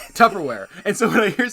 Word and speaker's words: Tupperware: He's like, "No, first word, first syllable." He's like, "Tub." He's like, "No, baby." He's like, "You're throwing bees at me. It's peas. Tupperware."